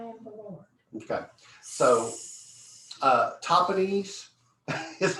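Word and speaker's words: Tahpanhes: Okay, so Topanese is how it's pronounced.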